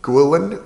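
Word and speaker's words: Guillén: It's by a professor named Mauro F. Guilin with the accent on the E.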